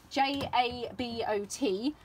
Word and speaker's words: jabot: They are spelt Jabot, J-A-B-O-T. Lots of people have told me in the past how they are pronounced, and it's more like Jabot.